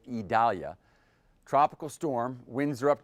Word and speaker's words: Idalia: here's the latest on idalia that's how we're being told to pronounce it idalia tropical storm winds are